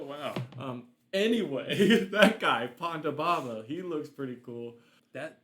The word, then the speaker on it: Ponda Baba: these are CPAP machines Ponda Ponda sounds like you're just like mispronouncing Panda Ponda Baba okay so I was pretty